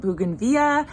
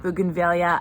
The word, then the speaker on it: bougainvillea: Some people pronounce it bougainvillea, some people pronounce it bougainvillea. I actually looked it up and both are totally appropriate. So I've always called it bougainvillea, so I'm gonna go ahead and continue with that.